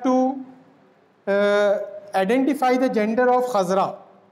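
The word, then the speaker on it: خضراء: Khazra'u means green, but we have to identify the gender of khazra. Like we say gumbad as gumbade khazra. Khazra is the correct pronunciation. Many people pronounce the word as khizra. Khizra is incorrect, not correct.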